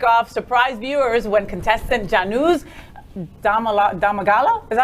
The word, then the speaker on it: Janusz: The latest episode of Great British Bake Off surprised viewers when contestant Januz Domagala? Is that how you say it? Janusz.